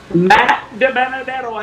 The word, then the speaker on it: DiBenedetto: Matt DiBenedetto as he comes down through the flyover here at the Talladega International Motor Speedway.